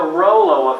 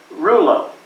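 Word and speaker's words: rouleaux: inefficient to some degree that's the rollo effect or Rula depending on what part of the world you're from the pronunciation varies but at the end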